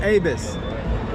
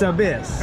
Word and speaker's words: Abyss: I just found out it's not Abus it's Abyss I like the way